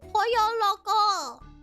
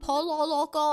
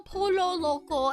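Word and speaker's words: El Pollo Loco: foods and next is po Loco that's how you say it right cuz last time I said the name of this restaurant I said Polo Loco and everyone laughed at me I don't really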